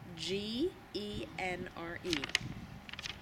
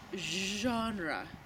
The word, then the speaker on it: genre: directly taken from French G e NR e it is pronounced genre which is actually a French sound like the sound doesn't exist in English so in English we